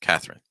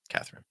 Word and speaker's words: Katherine: Helen Helen and Katherine notice that that e is just not even gonna be pronounced typically just completely reduced Katherine Katherine okay Hungary okay love